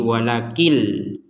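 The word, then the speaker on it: وَلَٰكِن لَّا: Nunnya bersukun dibaca walakin. Takkan karena nun sukun ini digabungkan dengan lam nanti kita bacanya maka walakinnya sudah kita ubah menjadi walakil. Jadi l i n walakin kita ubah menjadi L I walakil.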